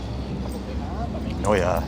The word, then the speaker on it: Neue: I don't know how to pronounce it. Neue, I think, comes after. Does it? Yeah, that should be just before the Met. Neue, N-E-U-E.